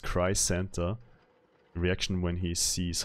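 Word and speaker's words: Crisanta: Her name is pronounced Cry Santa.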